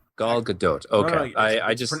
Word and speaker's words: Gadot: first photo of G I think it's GDOT is that how you pronounce your name or is it I was going to bring that up it's actually G GDOT Gadot okay I I just